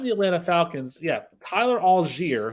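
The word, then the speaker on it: Allgeier: Atlanta Falcons yeah Tyler algier who I guess that's how his name is pronounced now because all guy is not good enough for him it's all jeer you know whatever did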